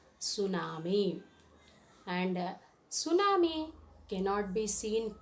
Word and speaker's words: tsunami: an undersea earthquake and how to pronounce tsunami t is a silence you should not repronounce the word tsunami it is tsunami and tsunami cannot be